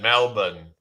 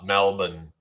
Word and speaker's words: Melbourne: I know you should pronounce it Melbourne, like it's spelled MELBEN or something like that. Melbourne, or well, or Mel or MELBUN or something like that. Melbourne. It's like you don't really say the R in it.